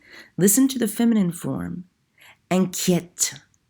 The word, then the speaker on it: inquiète: Inquiète. Inquiète. You notice in the masculine form, there's no accent over that E. That changes the way that it's pronounced.